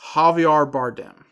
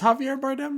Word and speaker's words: Javier Bardem: Does Javier Bardem begin with an H? Are we just... No, it doesn't. It's a J, but it's an J. H sound. It's an H sound.